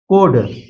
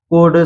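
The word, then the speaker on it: could: आप देख सकते हैं डी से पहले एल आया इसलिए एल साइलेंट है सीधा पढ़ा गया है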